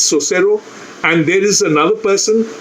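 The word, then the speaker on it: Saussure: linguist also said oh I don't know how to pronounce the word it's basically so servo they say it's so cero and there is another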